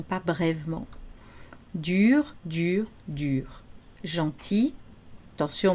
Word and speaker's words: gentil: Gentil, attention, on ne prononce pas le L au masculin. Gentil, gentil, gentiment.